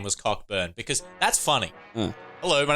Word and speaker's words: Cockburn: those people like honestly if your name's Cockburn and you say it's Coburn I pull out a pronunciation dictionary and say hey Lee the C and K are silent here buddy you've been living a